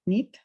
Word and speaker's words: knit: Bueno, para tenerlo en cuenta, en inglés tejer se escribe knit y se pronuncia knit.